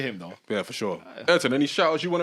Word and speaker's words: Ayrton: Ayrton, any shout outs you want to make before we take the people out?